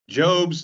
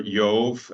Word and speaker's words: Job: So Job's name is pronounced either Job or Yov. It's kind of hard to tell because nobody speaks ancient Hebrew anymore. It's all a modern pronunciation of an ancient language. So Yov, something like that. And so then that went into German as Job, like with a J, because like German, you know.